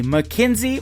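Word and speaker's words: Mackynsie: Her name is spelled M A C K Y N S I E. McKenzie.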